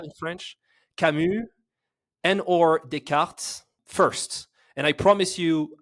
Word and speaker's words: Descartes: Descartes. I'm not sure how to pronounce.